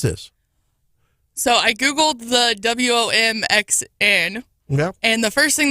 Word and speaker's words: WOMXN: So then I look up how to pronounce this WOMXN, and it says it's pronounced exactly like woman.